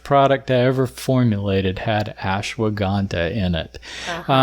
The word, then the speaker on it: ashwagandha: And what is the one that I'm not going to be able to pronounce? Ashawanga. Ashwagandha.